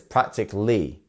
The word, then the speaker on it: practically: 23 we have practically once again we're not pronouncing Ali it's practically so which syllable here is our stress syllable we have practically again three and where do we have our syllable it's our first one again right so it's practically we have a stress syllable so PR practically you see